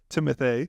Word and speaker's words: Timothée: He would have beat Timothée. That's how you say his name, by the way.